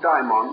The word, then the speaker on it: daimon: commonly use it today for many years i made a point of dividing the pronunciation calling one our familiar term the term demon and the greek form daimon or daemon the dictionary however prefers us to use the same pronunciation but let us bear